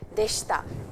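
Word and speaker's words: でした: Please get the pronunciation. Deshita. And the I over here is a little silent.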